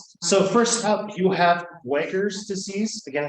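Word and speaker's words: Buerger's: So first up, you have Weger's disease. Again, it looks like burger. If you can spell it, that's fine. It just makes me hungry.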